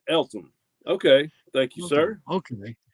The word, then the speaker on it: Eltham: Missing Mars says pronounced Eltham.